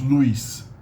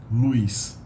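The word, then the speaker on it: luz: l-u-z it's usually pronounced Luis Luis there's a hidden e there guys guys is the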